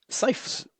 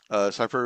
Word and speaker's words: CIPHR: I'll spell it CIPHR. Cipher.